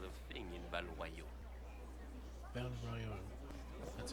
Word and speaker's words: Val Royeaux: Val Royeaux. That's how you pronounce it. Good people of Val Royeaux, hear me.